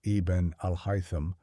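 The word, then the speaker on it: Ibn al-Haytham: It was not until the 11th century that the scholar Ibn Al-Hyam, pronounced Iben Al-Hyam, working in Cairo, systematically destroyed the visual ray hypothesis.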